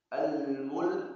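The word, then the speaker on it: الملك: tabarakalladzi biyadihi biyadihil mulku almulk waktu baca almulk harus menjelas huruf lam karena huruf lam dikata itu mati almulk walaupun wakaf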